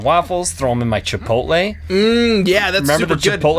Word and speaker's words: chipotle: Do you say Chipotle or Chipotles? Chipotles. Neither. I say it the correct way. Our good friend Anna would know how to say it. Chipotle, she says.